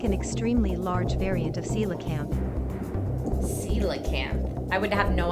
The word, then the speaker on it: coelacanth: It looks like an extremely large variant of coelacanth. Coelacanth. I would have no idea that that's how you pronounce that.